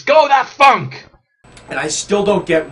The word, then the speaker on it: Gothatfunk: he is not goth it's not goth that funk it's go that funk and I still don't